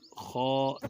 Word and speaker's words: خ: تلفظ سے پرہیز کریں، یعنی بے، تے، ثے، ہے، خے، توئیں، زوئیں وغیرہ ہرگز نہ پڑھیں، بلکہ با، تا، ثا، حا، خا، طو، ظا پڑھیں۔ تو اسی طرح جب